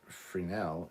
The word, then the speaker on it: Fresnel: okay uh bill says the s in fresnel is silent i know that's why i was saying for now the whole time god damn it darth